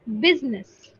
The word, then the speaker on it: business: again beginners right so do you see the j pronunciation it should not be j it's business try to say it it's s z right try to say